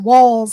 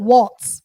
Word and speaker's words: Walz: other thing it's pronounced walls and not not Walts people have been calling him Waltz but there's no T it's just W LZ and it's pronounced walls like to the window to the walls um um and and